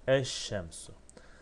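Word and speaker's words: الشمس: Eş şemsu. Şems kelimesini eliflam eklediğimizde şöyle olur. Eşşem su. Eş şemsu. Yani lam okunmaz. Peşine gelen lamdan sonra gelen harf şeddeli okunur.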